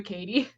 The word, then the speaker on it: Cady: Katie. It's pronounced like Katie Heron.